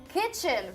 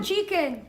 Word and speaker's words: kitchen: Kitchen, very good. Kitchen. Kitchen. No chicken. Not chicken.